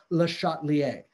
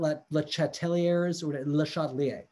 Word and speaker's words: Le Chatelier: pronounce it so it's Le chatelier so the emphasis on the shot it's not let chateiliers um maybe my French